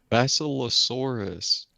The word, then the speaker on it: Basilosaurus: Basilosaurus.